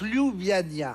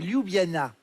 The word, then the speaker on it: Ljubljana: prononce Ljubljana. Ljubljana. Là-dessus, je suis assez je suis intransigeant. Hein. C'est Ljubljana. Ljubljana. Non, Ljubljana. Ljubljana. Ljubljana. Et tout de suite, le journal de 20. Ljubljana. Ok. Ljubljana. Avec Ljubljana 42.